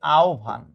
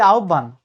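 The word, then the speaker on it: আহ্বান: এটার সঠিক উচ্চারণ হচ্ছে আওভান দেখছো আমরা কত কিছু ভুলভাল বলি আমরা বলি আহভান এটা কিন্তু 100% ভুল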